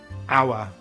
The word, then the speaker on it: hour: Sometimes the letter H is silent at the beginning of a word. These are usually French borrowed words like hour and honest.